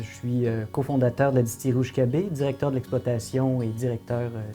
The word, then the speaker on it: Oushkabé: Et le problème, c'est que ça s'écrit pas du tout comme ça se prononce. Donc, ce qu'on a fait, c'est qu'on l'a un peu québécisé. On l'a écrit comme ça se prononce. Ça a donné Ushkebe et c'est le nom de la distillerie.